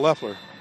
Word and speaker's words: Leifler: And they're pronouncing it Leffler here, so we'll call it Leffler.